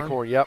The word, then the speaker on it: Eichhorn: Like number 21, Eichhorn. Is that how you pronounce that? Eichhorn? Eichhorn, yep.